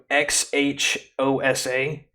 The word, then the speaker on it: Xhosa: You saw that language that guy spoke, XHOSA? The X is pronounced with like a click.